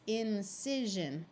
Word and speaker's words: incision: before a suffix incision notice that this one is an i and it's an example of a word where the I takes on a short I sound rather than an I but this just shows why it's important to have a good vocabulary because if you read it as incision and you didn't